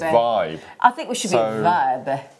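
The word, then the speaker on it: WIBE: y-b-duo but apparently this the w is silent and it's a v so it's vibe i think we should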